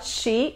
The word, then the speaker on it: she: La SH en inglés no es la che. Muchas personas de habla hispana la pronuncian como la che. No es la che. No se juntan los dientes, se juntan los dientes frontales, pero la lengua no toca nada cuando estamos pronunciando la SH.